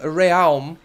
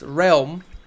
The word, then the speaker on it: realm: you tell me so because I was saying real but apparently it's pronounced realm so now I can say everything properly right